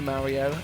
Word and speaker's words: Mario: much into Mario and being English I'd say Mario not Mario which I don't understand that's what Americans say I don't understand why why would you say Mario spelled Mario that's how you say it in the English language anyway uh that's not